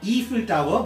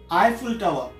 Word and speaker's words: Eiffel Tower: Eiffel Tower under evil tower so that's not evil tower ii i SS yi l then correct pronunciation Chapel Eiffel Tower Eiffel Tower Eiffel Tower korekado or each filter on teka